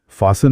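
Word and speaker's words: fasten: फासन में T silent है, plumber में B साइलेंट है, काम में L साइलेंट।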